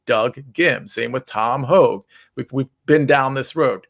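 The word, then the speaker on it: Hoge: I mean, it might be pronounced Hoagie. I'm not even 100%. I always say Hogue. Okay, we'll stick with Hogue. We'll stick with Hogue. I just wanted to let you guys know. I heard Jim Nance call him Tom Hoagie. Yeah. He's probably right because Bo Hogue was Hoag, and that's a hard G there.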